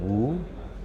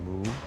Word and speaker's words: mu: So in the Zen tradition, woo or in Japanese they pronounce it moo also means nothingness.